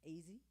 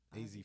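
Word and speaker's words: Azie: Oh, and how do I pronounce the brother's name? Ozzy, Faison, yeah, AZ Faison.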